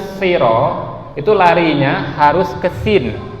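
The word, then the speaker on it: صِرَاط: Jadi kita baca di sini ihdinas siro, ya, si, ihdinas siro, ya. Jangan kita baca ihdinas syiro, tapi si, bukan sy, ya.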